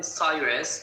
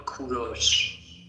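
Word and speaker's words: کوروش: English people call him Cyrus, but in Persian we call him Kuros.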